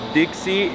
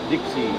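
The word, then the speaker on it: 的士: Taxi is pronounced pronounced Dixie in Cantonese. Wait, really? Dixie.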